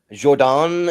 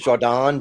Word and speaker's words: Jordan: So actually, my name's pronounced Jordan. It's not Jordan. It's Jordan, just like Rafe and Ralph. You know, you spell it one way and pronounce it totally different.